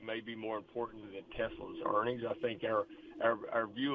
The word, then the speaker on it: Tesla: Could you please pronounce these stocks correctly? It's Tesla and NVIDIA.